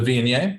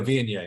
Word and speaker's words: Viognier: The The Viognier?